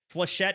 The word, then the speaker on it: flechette: Flechette is how you say it?